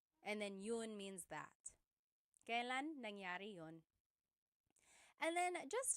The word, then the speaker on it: kailan: It's pronounced kailan, kailan, but you will often hear it pronounced kailan, kailan. Kailan ang kasal? Kailan ang kasal? But it's not wrong to hear kailan ang kasal. It's a little bit more formal.